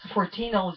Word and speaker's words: Fortinos: the other one fortino Fortinos is probably rhymes with dominoes and they sound the